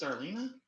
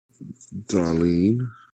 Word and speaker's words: Darlene: Maybe take wait, is it pronounced Darlena or Darlene? Darlene. Darlene, my bad.